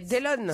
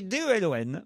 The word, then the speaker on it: Delon: C'est pas Dylan, donc c'est c'est pas Dillon. C'est un étranger. Alors oui. Dillon. J'ai pas la réponse, mais c'est un On y étranger. arrive, C'est on y va Dylan. doucement. Dylan. Non, ça Dillon. s'écrit D-E-L-O-N.